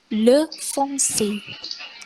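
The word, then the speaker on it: le français: Kemudian ada le foncé. Le foncé. Nah, ini kan ada huruf C yang ada ekornya, itu dibacanya S.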